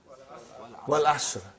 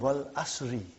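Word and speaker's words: وَالْعَصْرِ: What is the first ayah? Wal Asr. Have you ever noted down what is written there? It's called Wal Asri.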